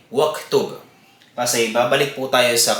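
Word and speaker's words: واكتب: So, kahit meron po siyang ad-damma, ang tamang pagbigkas pa din po ay waktub.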